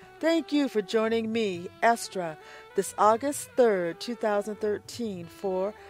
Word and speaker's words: Estra: Block Talk Radio and Estra's TV, currently featured on YouTube under Estra's blog. Make sure not to be diverted to another link. My official website is ESTRA, pronounced Estra.